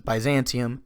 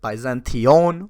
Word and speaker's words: Byzantion: There's multiple pronunciations: Byzantium, Byzantion with I-O-N, which is more Greek.